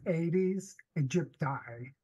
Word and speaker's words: Aedes aegypti: more time I wasn't quite sure how to pronounce it toward it's 80s egypti 80s egypti 80s egypti and for this particular